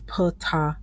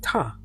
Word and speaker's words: Ptah: In this next clip, you can hear him pronouncing his name both ways, Ptah and Ta.